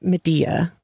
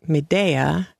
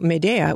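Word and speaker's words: Médéa: horse so nice and the horse's name isn't Medea which is how it's pronounced in a couple of different audiobook versions but it is Medea and that is a location in Algeria which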